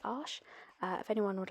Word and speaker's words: Arches: French made of paper I will be using the French pronunciation today which is Ash if anyone would like